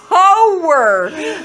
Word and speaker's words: hoer: No, a hoer, like HOER, not a, yeah. It's just one syllable.